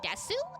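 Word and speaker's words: です: Sometimes you hear them say desu and sometimes they just say des masu.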